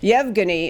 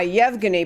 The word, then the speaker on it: Yevgeny: difficult name to pronounce I believe it is Yevgeny it's why EVG and why Yevgeny but these two identical